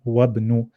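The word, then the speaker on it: وَابْنُ: Here, there's no hamza, so we jump straight from waw to ba, and we say wabnu, and this is called Hamzatul Wasl.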